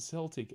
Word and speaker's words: Celtic: invented the English language it's pronounced Celtic as in kickin, kickin, Ark you can ghost learn something every day.